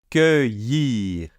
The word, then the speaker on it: cueillir: Donc je répète, cueillir, avec le y, et le R final qu'on entend légèrement ici.